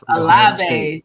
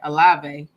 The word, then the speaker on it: Olave: Olave, yeah. Olave. Thank you, Jay. Olave.